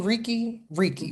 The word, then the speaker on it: Reiki: Now, you've been leaning into, I want to make sure I pronounce this right. Reiki. Reiki, yeah.